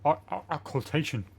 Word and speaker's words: occultation: Another iris of occultation. Holy shit, I pronounced it right. Occultation. That's what it is. It's occult.